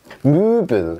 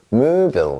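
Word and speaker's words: Möbel: 자, 무빌, 얘는 무슨 뜻이냐면 가구란 뜻이에요. 무빌 이렇게 합니다.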